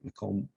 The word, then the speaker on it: Macomb: this era includes not only land but people Macomb Macomb as we would pronounce his name now was was one of